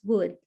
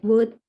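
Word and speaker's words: would: And then what about, and how to pronounce wood, like wood, kayu, instead of wood without L. L is a silent word, a silent letter, sorry.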